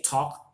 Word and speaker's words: talk: Like in English, we have, when you say walk, you have the silent L there. You didn't say walk or talk. You say talk, walk, because there's an L there, but it's silent.